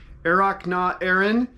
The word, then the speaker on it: Earrach na hÉireann: So yeah, the final piece, Springtime from Ireland, in Gaelic, like I had in the title, is pronounced Earrach na hÉireann.